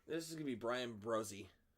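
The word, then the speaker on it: Bresee: is gonna be Brian brozie did you know that it's pronounced that way b-r-e-s-e-e bruzzy did Keely Ringo go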